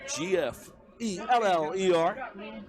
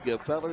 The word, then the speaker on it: Gefeller: Caden Gefeller, G-F-E-L-L-E-R. His coach calls him G-Feller. That is there. But Caden Gefeller is the correct pronunciation.